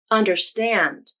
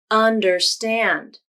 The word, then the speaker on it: understand: Understand. Understand. The first syllable, un, has some stress too. It's stressed more than the second syllable, der, but not stressed as much as the third syllable, stand.